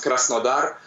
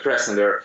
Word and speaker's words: Krasnodar: Well, actually, I live in a city called Krasnodar, and it's in Russian it sounds Krasnodar, but yeah, in English it's better to pronounce like Krasnodar.